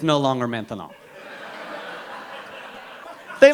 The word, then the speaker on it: maintenant: That's right, maintenant. Maintenant. 3 syllables, that's a long word for now. By the time you get finished saying maintenant, it's no longer maintenant.